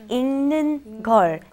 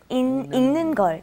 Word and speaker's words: 읽는 걸: ing, like ing in English. Okay? 읽는 걸. 읽는 걸. 읽는 걸. 읽는 걸.